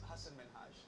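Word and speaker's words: Hasan Minhaj: it's Min yes no really my name is Hass min oh there was the interview with Katy Perry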